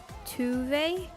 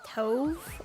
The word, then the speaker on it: Tove: Tuve. No, no, no. See, however they're pronouncing it is the incorrect way. It is tove. All right, that is the correct pronunciation.